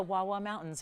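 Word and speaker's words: Wah Wah Mountains: I love saying this, the Wawa Mountains of Utah is where it comes from. And yes, it is. It is spelled that way. It is pronounced that way.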